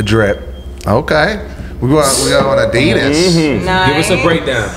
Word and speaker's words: Adidas: It's pronounced Adidas. Oh, Adidas.